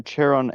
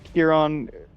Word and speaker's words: Charon: Charon? Charon's the Greek pronunciation, but it's whatever.